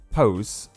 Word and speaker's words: pos: The Afrikaans word for cunt is pos, pronounced like puss.